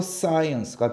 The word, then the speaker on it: science: 의를 가져와요 그러면 합친 문제야 쓰가 되죠 그래서 사이언스가 되는 거예요 아시겠죠 다시 사이언스 어떻게 적어 시작